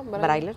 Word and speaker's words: braille: con sillas anfibias, con escritura braille, así se pronuncia, Ajá, braille, para los invidentes.